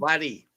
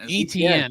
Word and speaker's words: Etienne: Caleb Laddie. Anthony. BYU football signed by Bank. No, Caleb Etienne. Etienne, that's right.